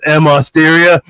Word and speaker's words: Osteria: it sound delicious instead of just calling it Osteria. But Osteria, Osteria. Like that is. It is. Go you country club. I know. You make it sound like Osteria walked by you and was on fire.